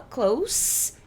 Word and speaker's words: close: tem closer não ser presta atenção na pronúncia que esse cara quem vá klaus não clauzita porque que acontece klaus é perto eclusas é fechar nenê é é uma sacanagem esse cara aqui a gente vai produzir um som de s gols esse cara que a gente vai financiar com são dizer clausi tá essa é a diferença da pronúncia das duas e assim que a